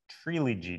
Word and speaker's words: Treelogy: going to talk about Trilogy today that's three syllables Trilogy it's just like the word trilogy but with tree at the beginning of it uh people ask so